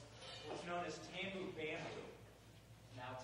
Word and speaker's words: tambu: is tambu bamboo. Now, tambu comes from the French word for drum, which is tambour, and it rhymes with bamboo.